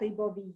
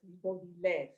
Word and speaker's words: Ribeauvillé: And I learned, everyone, it's not Ribeauvillé, it's Ribeauvillé. So that just put that on the long list of things I've been spelling wrong and mispronouncing for decades.